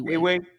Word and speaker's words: Ewe: I don't know if I'm butchering it, but it's EWE. I should say Awe. Yeah, I just say Awe all the time. That's how I pronounce it.